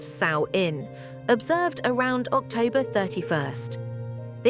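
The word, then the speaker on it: Samhain: And the most significant marker in their calendar was samuin, pronounced saoin, observed around October 31st.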